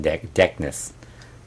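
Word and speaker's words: Decnnis: I want to know why they named him Deckness. Yeah, I like that. Yeah, I don't know if he's going to know the reason. The C is silent?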